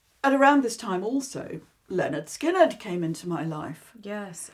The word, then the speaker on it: Lynyrd Skynyrd: 50s and 60s um but when I heard pronounced Leonard skinnard the very first album in the very early